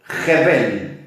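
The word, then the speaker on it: Hebel: Jebel. Como si lo pronunciaran con H-E-B corta E-L.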